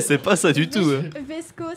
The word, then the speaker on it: VSCO: Vesco s'écrit V-S-C-O.